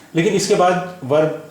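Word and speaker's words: blanc: बां, बी ए एन सी, बां, यहाँ भी सी का प्रोनाउंसिएशन नहीं हो रहा है।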